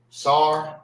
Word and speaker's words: sar: All right, you will not say s. It's sar.